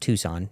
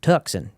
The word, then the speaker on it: Tucson: Yes, it's pronounced Tucson, not Tucson, despite the accent you might hear there.